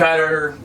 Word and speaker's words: Qatar: He's in, yes, Qatar, or you can call it Qatar. Qatar. A lot of people used to say Qatar. Now they say Qatar mainly.